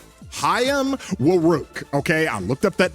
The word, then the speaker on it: Hayam: All right, Haim Woo. Okay, I looked up that name on how to pronounce it.